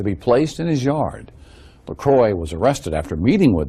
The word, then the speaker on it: LeCroy: seen this eaten my Brandon Corey Lacroix I believe is how his name is pronounced and he actually uh